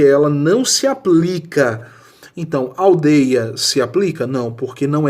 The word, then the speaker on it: aldeia: Então, aldeia se aplica? Não, porque não é ditongo aberto. Aldeia, o ditongo é fechado.